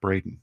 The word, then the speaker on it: Braden: There are many differences of Brandon, Brendan, and Braden. A lot of our callers still call me Brandon.